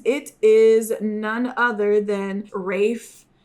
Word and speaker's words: Ralph: I always called him Ralph Fiennes because that's how the fuck his name is spelled.